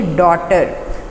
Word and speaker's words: daughter: और इसके फेमिनिन को क्या कहेंगे, डॉटर। DAUGHTER। अब यहाँ पर जी जो है बेटा वो साइलेंट है, लिखा तो गया है बट इसको हमने बोलना नहीं है, तो ये क्या बन गया, डॉटर।